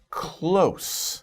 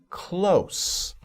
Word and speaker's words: close: Close. Now, be careful about this word because there's two pronunciations, two different meanings, right? In this case, it's close.